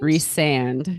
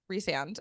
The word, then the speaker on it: Rhysand: is Reese okay re so Reese is reand okay and then is it Luc Lucian Lucian Lucian Lucian Lucian okay so reand reand reand so the emphasis on on the second syllable okay Lucian farra Fara